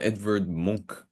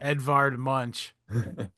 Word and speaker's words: Edvard Munch: That could be from an Edward Monk painting for all I know. Is that how it's pronounced? That was Munch. It's funnier to say Munch. So, we'll go with that. Edvard Munch.